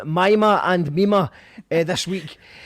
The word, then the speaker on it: Mima: So yeah, it was Mima. It's not Mima. Everyone else, Scottish people are wrong. Irish people are right.